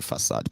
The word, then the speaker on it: facade: Because they said the Igbos needed, I think it's pronounced as facade. You know me, I'm a Yoruba man, so don't blame me. Okay? Sometimes some words, you pronounce them as they are written, and then you go back again and you'll be like, what's the difference? Facade, there be facade, but it's actually facade, by the way.